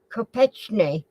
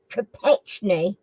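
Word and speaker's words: Kopechne: s dwarves okay okay who drove Mary Joe ketne to her death in 1969 I'm not sure if I pronounced that right but who drove Mary Joe capet I spell it for you k o p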